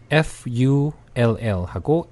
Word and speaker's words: full: F-U-L-L하고 F-O-O-L입니다. F-O-O-L인데 앞에 있는 발음은 으 발음, 그래서 full. 그리고 뒤에 있는 발음은 바보다라고 할 때는 fool, fool, 네, 네 우 발음 번갈아서 한번 읽어볼게요.